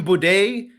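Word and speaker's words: Buday: i got nothing martin boude his last name rhymes with bidet and for that reason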